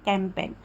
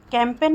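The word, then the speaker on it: campaign: कर रहे वैसे ही कैंपेन कैंपेन में भी देखिए कि जी आया है एन से पहले तो हम क्या कर रहे हैं दोस्तों प्रोनाउंस नहीं कर रहे हैं वहां पर ठीक है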